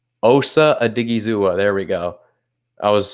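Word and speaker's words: Osa Odighizuwa: He gets blown up at the line by, let me say his name right, Osa Adigizua.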